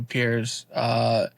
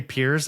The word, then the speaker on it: Pires: It's Pires.